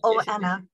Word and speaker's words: Oana: must tell or anna do i pronounce her name correctly claire oh anna okay thank you you